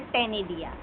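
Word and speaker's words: ctenidia: सी silent है यहां पे टेनिडिया।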